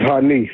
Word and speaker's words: Hanif: if I'm mispronouncing it no it's hanif hanif okay thank you for